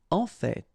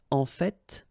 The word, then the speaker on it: en fait: En fait. So whether you pronounce the final T or not, you can hear both. En fait. En fait. En fait. I'd rather pronounce it personally. En fait.